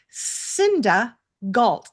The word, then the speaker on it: Cinda Gault: I'm your host, Julie Fairhurst, and today I'm here with Cinda Gault. Did I pronounce that right?